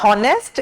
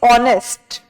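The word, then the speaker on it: honest: में पढ़ाया है कि एच न इसमें इस वर्ड में एच जो है वह साइलेंट रहता है तो वह प्रोनाउंस करके भी सिखाएगी कि इट्स नॉट नेस्ट इट्स ऑनेस्ट इट्स ऑनेस्ट तो प्रोनंसिएशन प जोर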